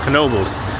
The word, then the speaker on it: Knoebels: Vlog is the name everybody wonders why it's pronounced Knoebels now I don't know much about um what's